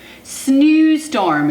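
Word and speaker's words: Sneeuwstorm: SNEEUSTORM. It's like snowstorm, but SNEEUSTORM. It's spelled a little differently.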